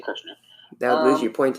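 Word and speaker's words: Kershner: I thought it was Keschner, but it's actually Kirshner.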